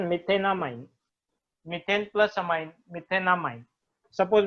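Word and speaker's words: methanamine: मीथेन इसको directly जोड़ दो मीथेन अमाइन मिथेनामाइन pronunciation मिथेनामाइन मीथेन plus अमाइन मिथेनामाइन suppose मेरे पास है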